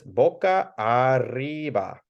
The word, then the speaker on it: boca arriba: So we got boca arriba. Feel free to roll the R's if you like to. I'll kind of say it like this, boca arriba.